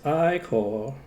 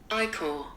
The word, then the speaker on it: ichor: No, it's pronounced Ichor. Ichor. Ichor.